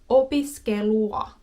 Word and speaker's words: opiskelua: Okay, so UA, a word that contains this is opiskelua. Opiskelua. So we have U, plus a, ua, ua, ua, ua, ua, ua, ua, ua. So then, opiskelua, opiskelua, ua, opiskelua, opiskelua, ua, ua, opiskelua.